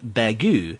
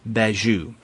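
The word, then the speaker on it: Bagieu: have heard episode 135 we pronounced uh B's name bagu so I know I was saying Penelope bagu but Matt was uh giving us his his vast knowledge of French pronunciation and and I appreciate that it is beu and you know Derek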